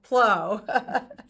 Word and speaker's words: Pleau: I always say, she's probably sick of hearing me say this, it's like Thoreau, Pleau. That's how you pronounce her last name.